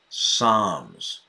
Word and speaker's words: Psalms: now to sing some Psalms right Miriam now silent L Psalms during covid Luke had